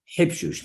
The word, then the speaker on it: Habshush: He was a merchant in Africa, and in Yemen, it's spelled as H-I-B. So it should really be Habshush, Hayyim Habshush.